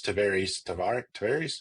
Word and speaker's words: Tavares: Pretty wild to see little small Mount Dora, Eustis, Tavares. How do you say it? to varies.